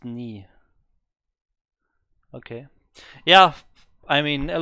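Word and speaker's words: 네: I wanted something translated, so I used Google Translate and it put out this ne. Ne, ne, ne. So I was a bit confused, but yeah, I can. Ah, pronounced knee.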